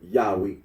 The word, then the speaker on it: Yahweh: for the name yahi the scholarly consensus is that the original pronunciation of the tetr gron was yahwe arino agrees that when